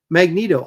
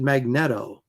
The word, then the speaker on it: Magneto: It was like magneto. I always pronounced it magnetto until I was you know corrected.